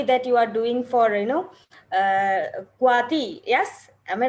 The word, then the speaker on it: CWATY: And also, I am really happy that you are doing for Kuati. Yes, am I right? I'm pronouncing right. Yes, Kuati.